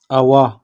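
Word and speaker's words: awak: ठीक है उसके बाद अवा यह जो के है यह साइलेंट है यहां पे अवा तुम खाली अवाक नहीं बोलेंगे हम अवा बोलेंगे अवा तुम ठीक है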